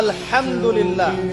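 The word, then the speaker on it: الحمد لله: যাচ্ছিস আপনি পড়ছেন আলহামদ আলহামদুলিল্লাহ। শব্দটা কি? আলহামদুলিল্লাহ। এই হা এর মাখরাজ কোথায়? কন্ঠনালী মাঝখান থেকে।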